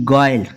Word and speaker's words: guile: U के बाद कोई भी अगर वावल होता है ना तो U हमेशा साइलेंट होता है। जैसे देखो GUILE गॉयल, ठीक है, आप कहोगे U के बाद I है।